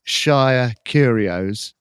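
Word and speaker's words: Shire Curios: To find them, you need to go to eBay and put in uh Shia Curios and you'll find their store.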